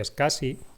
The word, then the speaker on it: SCSI: Esta conexión antigua en paralelo, a lo mejor lo veréis todavía como el SCSI, Small Computer System Interface, SCSI, se pronuncia SCSI, que era un protocolo inicialmente paralelo, ¿no?